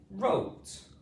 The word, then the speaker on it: wrote: diagraph O sound is wrote. Wrote rote. Ro. Here we have a twolet sound, but the W or W is silent. It's a silent letter.